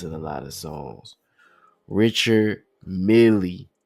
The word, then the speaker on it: Richard Mille: Richard Mille. I don't know where the Mille come from or the million, but it is just Richard Mille.